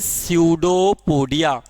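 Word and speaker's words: pseudopodia: This is सूडोपोडिया, P silent होता है इसमें, इसको हम लोग बोलते हैं सूडोपोडिया।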